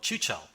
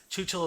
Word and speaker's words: Chuchel: As for what I have been playing, I have been playing this delightful little point-and-click-ish game called Chuchel. I believe that's how you pronounce it.